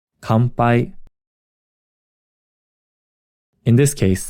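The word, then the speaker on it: 乾杯: Kanpai. Kanpai. In this case, the n is pronounced closer to an m sound.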